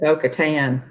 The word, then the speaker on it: Bo-Katan: Mando he was saved by, which Bo-Katan, Bo-Katan, Kryze, she says, actually pronounces it Bo-Katan.